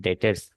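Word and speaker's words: debtors: इनको हम डेटर्स D silent होता है।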